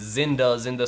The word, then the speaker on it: Xinda: these knockoff switches is Zinda spelled with a ZX, Zinda spelled with an X, like Xinda.